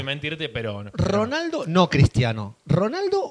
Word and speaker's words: Ronaldo: ¿Cómo se dice bien en portugués Ronaldo?